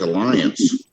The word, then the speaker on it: Allianz: That sounds like Alliance.